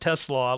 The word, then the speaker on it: Tesla: I am putting out on Blue Sky, by the way, Tesla is pronounced Tesla, like coleslaw, not the evil car company.